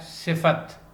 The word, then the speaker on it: صفت: کا جو تلفظ ہے وہ کیا ہے؟ صفت، یعنی کہ فا کے اوپر زبر۔ اس میں صفت ہمیشہ